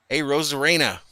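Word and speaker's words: Arozarena: and Julian says Vahala it's pronounced a rose AR a rose Arena see how many times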